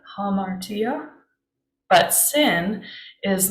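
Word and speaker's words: ἁμαρτία: closed or open I guess quotation mark it's pronounced hamartia hamartia but sin is not a feminine trait sinner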